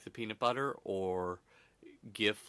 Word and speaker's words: GIF: graphic interchange format so you would think graphic that's a hard G it would be GIF except the person who invented it calls a CHF so it's a little confusing so call it what